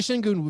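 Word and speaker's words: Şengün: euphemism question number three did i just mispronounce alperin shin goon's name no i think i think you said it correctly i will say shin goon very very very impressive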